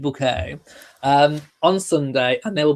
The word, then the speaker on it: Bucket: So yes, I will be being Sheridan Bouquet, Bucket, pronounced Bouquet, on Sunday, and there will be lots going on.